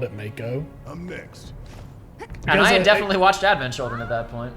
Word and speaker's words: Mako: game, we called it Mako. I'm next. and I had because definitely watched Advent Children at that point. Because Mako sharks are real and they are pronounced like Mako shark.